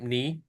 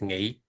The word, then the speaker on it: Nghị: So my name Ni, or in Vietnamese Nghị, it means strength. So usually people call me Ni, because it's easier to pronounce than Nghị.